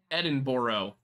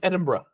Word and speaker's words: Edinburgh: fun of you cuz every time I said Edinburgh you would go Edinburgh Edinboro it's Edinburgh it's just Edinburgh Edinburg like lettuce Iceberg Ed